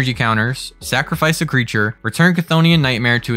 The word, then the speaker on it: Chthonian: It is, I think pronounced this way, Chthonian Nightmare. That's how I'm going to say it. It's like Cthulhu, right?